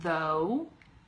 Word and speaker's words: though: different sounds like at the end of the word though what sound does that make it's like a G H becomes an O and then it can